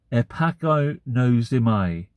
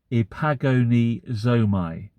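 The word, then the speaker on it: ἐπαγωνίζομαι: And the word for struggle or contend for in Greek is the Greek word, and it's quite hard to pronounce, epagonozomai. Epagonizomai.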